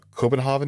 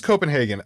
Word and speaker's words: Copenhagen: good stuff also uh copenhaven is in Copenhagen oh it is Copenhagen oh okay I don't know I was pronouncing it so weird um if we can